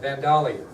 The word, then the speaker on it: Vandalia: at Vandalia by the way that's how it's pronounced Vandalia now they changed the name at that time